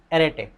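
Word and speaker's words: arête: इसके बाद जो अगला कॉन्सेप्ट है उसका नाम है एरेटे। अरेट, कुछ भी आप इसको प्रोनाउंस कर सकते हो, मैं तो इसको अरेटे बोलूँगा।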